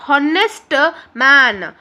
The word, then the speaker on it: honest: this receipt he is honest man here honest man I'm not saying honest man o n e s while pronouncing we'll the h word will be silent yes so when we